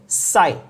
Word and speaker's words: psi: क्या प्रोनाउंस करेंगे, साई। क्या प्रोनाउंस करेंगे, साई।